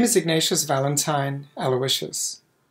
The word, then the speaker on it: Aloysius: name is ignatius valentine aloysius the way we still pronounce my last name in india where i am from